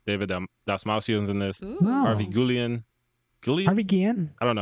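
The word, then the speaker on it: Guillén: Harvey Guillen. Harvey Guillen? I don't know how to say it. Guillen, thank you.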